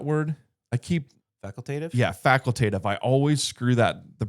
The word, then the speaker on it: facultative: Yeah, facultative. I always screw the pronunciation of that up.